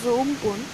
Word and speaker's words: Amphan: The super cyclonic storm Amphan, which is pronounced as Umpun, over northwest Bay of Bengal moved north-northeastwards with